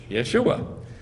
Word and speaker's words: Yeshua: And it says in English, Yeshua with a J. We know there's no J in Hebrew, right? So what is it? Yeshua. Then Yeshua ben Yotzadak, which is